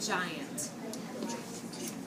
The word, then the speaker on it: giant: What sound do you hear at the beginning? Is it the hard G sound or the soft G sound? Soft. Do you agree? Excellent. We all agree with her. It sounds like a J, just like orange has the J sound or gem.